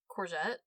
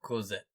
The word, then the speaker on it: Cosette: I do think that they spent most of their time and effort character thinking on Courgette, or however you say her name. Cosette.